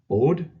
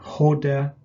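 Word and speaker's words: ὧδε: very important terms the next word down is od or ode excuse me hoda it's got the rough breathing and it's the idea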